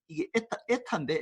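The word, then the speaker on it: η: 판단해서 이게 좀 이게 에타인데 에타 n하고 비슷하게 생겼지. 이게 그리스 문자야. 그리스 문자인데 이게 에타인데 에타라고 읽어.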